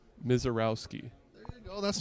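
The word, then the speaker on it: Misiorowski: into the camera and tell them the proper pronunciation for your last name. Mizorowski.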